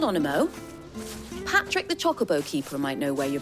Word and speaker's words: Chocobo: that they're pronounced at Chocobo I don't like it it's Chocobo not chocolate they're not made of chocolate it can't be helped